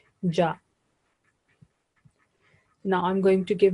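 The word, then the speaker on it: ج: This is Arabic name is Jim, but when it has fatha, we pronounce it like ja.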